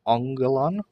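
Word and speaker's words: ἄγγελον: gail on it's anger remember the nasal gamma two gammas together pronounced on sound so angelon and it is a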